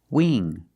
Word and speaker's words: wing: Wing sing and bring you see the combination of ing you know it's a long e sound like green beans listen to the sound Wing sing bring that's a long e not a short I now let's look at